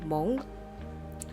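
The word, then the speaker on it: Hmong: They're called the Mong. I don't think you pronounce the H.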